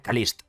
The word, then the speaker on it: Caliste: Bueno, para aclarar, se pronuncia Kalist, pero siendo yo español, pronunciar Kalist durante todo el vídeo será muy complicado, así que lo siento, pero le llamaré Kaliste.